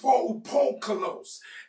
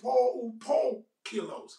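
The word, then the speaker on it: polupoikilos: And that term is poukolos. And let me say it again, or let me spell it for you. P-O-L-U-P-O-I-K-I-L-O-S. And it is poukolos.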